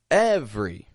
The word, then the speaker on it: every: two quick syllables different every same thing spelled with three syllables we only pronounce two not every but every